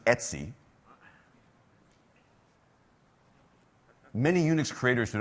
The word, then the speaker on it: etc: they have a a a directory spelled Etc which if you're hip and with it in the Unix world you pronounce Etsy many Unix creators do